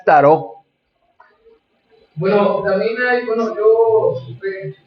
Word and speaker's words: tarot: muy profundo y su su pronunciación correcta es tarot Bueno también hay Bueno